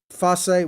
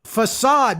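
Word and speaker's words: façade: the the uh um fosse what are you how do you say that aid fascinating facade facade billy bob told me it's facade okay some of these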